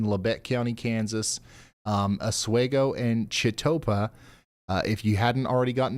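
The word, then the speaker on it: Chetopa: How do you say those towns, like the locals? All right, Ryan, you're looking at Jatopa for Chitopa and Oswego for Oswego. Nothing fancy, just how the locals say it.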